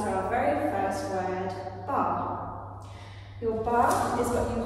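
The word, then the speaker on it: barre: So that takes us to our very first word, bar.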